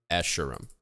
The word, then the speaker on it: Escharum: How do you pronounce Escharum? Escharum.